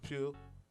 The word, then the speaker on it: Pugh: And then Florence Pugh, or Poe. I don't know how to say her I think it's last name. Pugh.